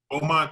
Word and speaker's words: Beaumont: Baymount? Beaumont, Texas.